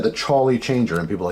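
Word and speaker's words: Chawly: You guys can check it out anyway, but yeah, and people always say, how do you say, because I said the Charlie Changer, and people are like, the Holly Changer, the Collie Changer, what are you saying, Jeff?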